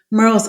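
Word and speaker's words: Murrells: how to pronounce it we often say Merl like Pearl because of the closeness and um the phonetic sound of that but you know it I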